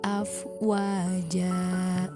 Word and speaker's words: afwaja: wet Oleh karena itu dibaca menjadi panjang menjadi afwaja tidak boleh terlalu panjang Cukup dua harokat jadi cara membacanya kalau dari awal waroa Itan nah saya dak huluna video Selain afwaja itu acara membaca Quran